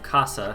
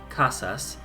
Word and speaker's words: casas: So like some Spanish speakers will not pronounce an S at the end of a word. So like, so for instance, any plurals lots of times will be said like let's just say, so casas. So the plural of casa, house, casas, might be pronounced casa.